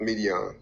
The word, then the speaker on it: Midian: How you pronounce this? Sons of Midian. Yep, Midian.